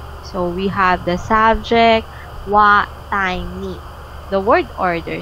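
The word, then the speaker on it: は: Of course, after the subject, we have the wa, but written by ha, but pronounced by wa.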